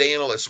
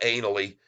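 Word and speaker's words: Ainslie: but I'll call it analy I think the S is silent folks the S is silent his name is Lee analy okay analy and he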